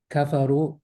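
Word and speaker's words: كفروا: You don't pronounce the letter that's under it. That's what it means. It doesn't exist.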